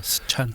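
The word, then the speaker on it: 四川: 그리고 이제 3차의 노정은 사천성, 스촨성이죠. 네, 스촨.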